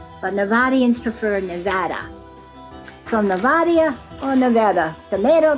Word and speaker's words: Nevada: Technically, the Spanish way to pronounce the name is Nevada, but Nevada prefer Nevada.